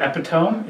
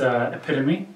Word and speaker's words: epitome: Like instead of contorted epitome, it's epitome. Yeah, that one, Steve showed me that after, and I was like, I said it as epitome.